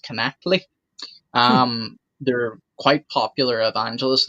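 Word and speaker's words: Knechtle: I believe their last name is pronounced Connectly.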